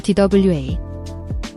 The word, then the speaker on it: 돼: The DWAE is a diphthong, pronounced like we.